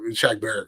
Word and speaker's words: Shaq Barrett: But I can say Shaq Barrett is a guy that, if I'm not saying it, Shaq Barrett, correct?